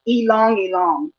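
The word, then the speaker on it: ylang-ylang: to talk about for your aromatherapy is um elongate and it's spelled y l a n g y l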